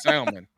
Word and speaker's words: salmon: It's salmon. How do you pronounce it? I say salmon. I don't pronounce the L.